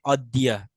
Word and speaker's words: অদ্য: স- এটা এটা উচ্চারণ করতে হবে কি তাহলে, অদ্দিয়া।